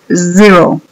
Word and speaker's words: zero: H para decir cero decimos Zero como que es un zumbido como el que las abejas hacen Zero también en inglés